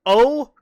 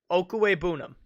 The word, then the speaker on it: Okwuegbunam: Pronounced Okwuegbunam. Okwuegbunam.